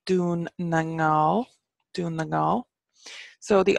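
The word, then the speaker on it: Dún na nGall: goal and a scale get in Irish its doon nang now doing the goal so the alternative irish for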